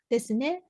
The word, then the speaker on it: ね: Then this ne it's a little bit intonation go up when you pronounce like this, ne.